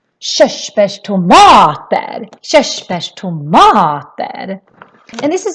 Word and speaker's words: körsbärstomater: And then when we have RS like we have here, that is also a sh sound.